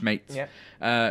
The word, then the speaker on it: Smeets: I think it's pronounced Smeets, who his contract ends with the Graafschap in the summer.